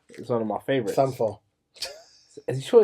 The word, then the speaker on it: Sampha: Sampha. Is he sure it's Sampha or something? Because I had a friend and he was it's from Sampha. the same place. It's called Sampa. No, it's Sampha.